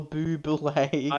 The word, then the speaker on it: Bublé: Bublé.